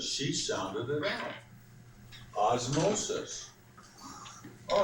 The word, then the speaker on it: osmosis: you're close anybody anybody get any closer Brandon oses well you're ear Clos too Emily osmosis osmosis she sounded it osmosis all right osmosis is the movement of water